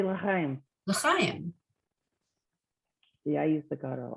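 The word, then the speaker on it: לחיים: So the chet here is that soft guttural ch. So because you don't want to confuse it with the kuf, which is more a k, right?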